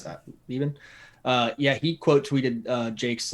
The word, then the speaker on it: Leben: How do you pronounce that? Leben.